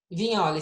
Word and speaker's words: Vignoli: Vignoli. Se escreve com um G mudo, de Vignoli, né?